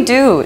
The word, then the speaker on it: Duy: - Soy Yoana - Hola, soy Duy - ¿Duy?